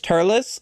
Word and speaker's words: Turles: Fun fact, uh the Tree of Might movie, the villain is Turles, who is a Saiyan. His name is supposed to sound more like Lettuce, and Turles is not the correct pronunciation.